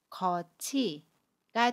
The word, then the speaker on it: 겉이: 팁과 조사로 쓰이는 e 가 만나면 티를 치로 발음 해요 그래서 거치가 됩니다 겉이 두번째로 속 관이 은 속과 라고